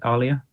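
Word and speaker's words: aliyah: diversity have you ever been tempted to make Alia is that how you pronounce it sorry Alia yeah I I was planning to yeah to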